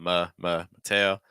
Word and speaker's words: Mateo: First syllable very weak for schwa sound. Mateo.